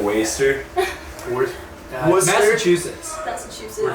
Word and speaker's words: Worcester: How do you say it? Worcester. We're kind of like waster.